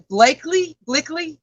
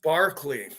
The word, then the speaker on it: Berkeley: And it's not really reported on that much, and that would be the nameless thing at Blakely. It's actually pronounced Barclay.